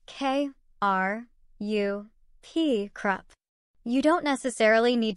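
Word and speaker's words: ครับ: When saying hello with a Y, women add ka, pronounce K, A, H, ka, to the end, while men say krup, pronounced K, R, U, P, krup.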